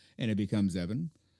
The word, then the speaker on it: Even: So, it's Evan. Or say Evan like heaven, but starting with an E instead of a K.